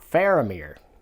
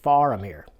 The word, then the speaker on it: Faramir: I did it myself, in Tolkien's languages, if a name, if a name ends in an F, it's pronounced with a V sound. So it's Gandalf, not Gandalf. It's not Aragorn, it's Aragorn. And it's not Faramir, it's Faramir. So, and there's probably a